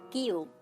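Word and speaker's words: cube: দেখুন আমাদের স্ক্রিনে একটা উদাহরণ চলে এসেছে, কিউব। কিউব দেখুন এখানে আমরা সি এবং ইউ কে পাচ্ছি কিন্তু তার উচ্চারণ ক করছি ঠিকই, কিন্তু তার সাথে একটা ভাওয়েল যুক্ত আছে, সেটা হচ্ছে ইউ।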